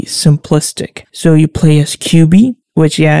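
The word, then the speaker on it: Quby: So you play as QB, which it's similar to the title, but no, her name is pronounced Q-U-B-Y.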